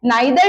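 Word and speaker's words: neither: अब देखिए अगला है ईदर और या नीदर नॉर। अब इसके दो प्रोनाउंसिएशन होते हैं, अगर आप आइदर और बोलते हैं वो भी सही है, नाइदर नॉर बोलते हैं वो भी सही है।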